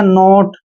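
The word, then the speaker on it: note: हम ओट पढ़ेंगे जैसे एन ओ टी ई एन को हम न पढ़ते हैं भाई ओटी को ओट पढ़ रहे हैं तो हो गया नोट अब नोट क्या होता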